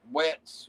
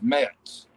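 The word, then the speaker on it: Metz: a while ago guys it's not wets or whatever it's mets m-e-t-z but i went over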